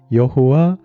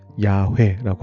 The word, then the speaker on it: 야훼: 바로 여호와 우리 주여라는 표현입니다. 이게 왜 심오한 의미를 담고 있을까요? 자, 한번 생각해 보죠. 이스라엘 사람들은 여호와, 더 정확한 발음으로 한다면 야훼라고 할 수 있겠는데 이 이름을 여호와, 야훼라고 하는 이 이름을 발음하지 않았습니다.